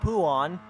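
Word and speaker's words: Pouhon: Adam's favorite Corner because it's called poo on that's actually how you pronounce it and then now Ronnie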